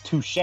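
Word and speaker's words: touché: It's touche.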